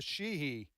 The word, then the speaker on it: Sheehy: That's going to flip because Joe Manchin's retiring, and then in Montana, Sheehy. Is that the way you pronounce it?